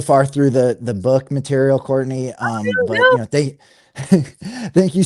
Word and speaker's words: Courtenay: So it's pronounced Courtenay, but it's spelled Courtenay.